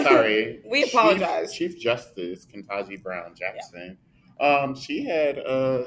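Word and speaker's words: Ketanji: And then even with the confirmation of Chief Justice Kendaji, did I say her name right? Let me type that because I don't. I think it's Kentaji with a T, right?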